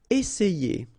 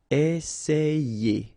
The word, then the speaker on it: essayer: with the A, so it will produce the sound E, okay? And then you've got another E here, and then you get the sound ye. Essayer.